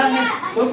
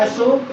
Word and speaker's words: अशोक: आजा शत्रु तू काला अशोक कहां बना रहा है अशोक अशोक अशोक अशोका दोनों इंग्लिश वाले अशोका बोलते हैं हम लोग अशोक बोलते